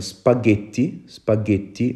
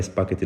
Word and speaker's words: spaghetti: nii quoi spaghetti waaw su fekkoon ne binduma ci h prononciation bi dina doon spaghetti parce que gis nañu tamit ne ji bu fekkee ne dafay ànd ak e wala i dañ ko prononcer j waaye bu fekkee ne dañ koy boole ak h prononciation bi dafay doon g kon spaghetti waaw ji bu